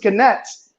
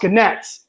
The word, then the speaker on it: gnats: 15, had corrected, wait a minute, what is gnats? They said, well, it's the black insects that fly around. They're very small. She said, a gnat? She's like, no, they're pronounced ganets.